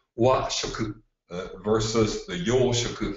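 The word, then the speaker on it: 和: The kanji that you have here on the screen means wa, is pronounced wa, and means harmony.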